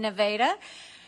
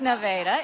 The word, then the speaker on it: Nevada: It's great to be back here in Nevada.